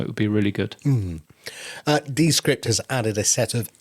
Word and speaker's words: Descript: And it's not Descript; it's Descript. I learned when I was working out how to credit them as a sponsor of the Podnews Daily show this month. It's Descript. So we've been saying it wrong all these years.